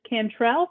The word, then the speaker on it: Cantrell: I see maybe Miss Cantrell. Sorry if I'm mispronouncing anyone's name.